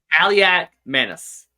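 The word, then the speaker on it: Kaliakmanis: Kaliak Manis.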